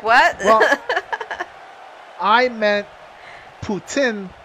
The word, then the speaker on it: poutine: like what i meant putin from quebec putin or as we say it here poutine but that's not the proper way to say it i'm actually curious